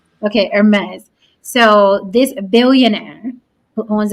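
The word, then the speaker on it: Hermès: I know it's not Hermes like herpes so what is it Hermes like the H is silent okay Hermes so this billionaire who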